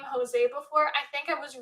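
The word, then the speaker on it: José: it's like jenny jones i definitely mispronounced that name i definitely pronounce to josie because i didn't know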